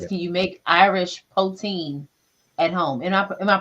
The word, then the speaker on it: poutine: Can you make Irish poutine at home? Am I pronouncing that correctly?